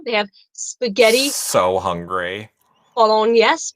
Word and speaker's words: Bolognese: Bolognese, bologna. How do you pronounce that?